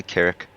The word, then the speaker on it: Carrick: We move on now to Carrick. I think, is that how I say your name? Or am I saying it wrong? No, you're saying it correctly, Carrick.